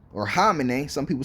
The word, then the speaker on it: Khamenei: It says China, Russia, North Korea, and Hamas condemn killing of Iran's Khamenei.